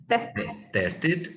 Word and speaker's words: tested: Tested. Recuerden que la terminación ed también se dice ed, tested.